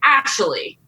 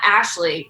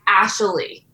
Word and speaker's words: Ashley: I also wrote down the fact that he said that he calls me Ashley, not Ashley. It's Ashley. He has an extra syllable to my name. I had a vowel in there.